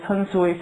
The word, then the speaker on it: 산수: 장안이 말하기를 조선에는 섭수, 열수, 산수, 요거는 산은 선으로 발음해야 된다라고 기록이 되어 있습니다. 그러니까 섭수, 열수, 선수의 세물이 있는데 이것이 합해져서 열수가 되었다라고 되어 있어요.